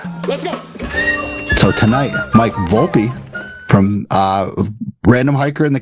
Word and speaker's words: Volpe: Did I say that right? Your last name again? Yeah. Volpe. Ah. Good job. Most people don't say it right.